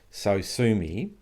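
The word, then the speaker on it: Sosumi: And so his response was, So Sue Me. And as people will be aware, if you're into this space, it's spelt SOSOMI.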